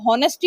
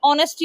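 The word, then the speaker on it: honesty: ऑनेस्टी एंड और ऑनेस्टी ये जो वर्ड है ना शुरू तो एच से होता है लेकिन एच प्रोनाउंस नहीं किया जाता बोला नहीं जाता अगर एच भी बोलेंगे हम तो होनेस्टी हो जाएगा है ना होनेस्टी नहीं होता है लेकिन यह ऑनेस्टी होता है। इसमें एच साइलेंट होता है।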